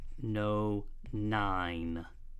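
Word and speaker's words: nonyne: named 6 methyl two no.9 okay that weis pronounced like it's an i know nine and of course i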